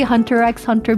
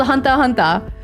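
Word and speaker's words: Hunter × Hunter: I say Hunter X Hunter because there's the X there so I have to pronounce it. In Japanese though, it's called Hunter Hunter. I guess they don't pronounce the X.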